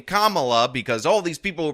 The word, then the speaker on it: Kamala: let's let's um Kamala and I'm calling you Kamala cuz for all of those who are mispronouncing it I want you all to know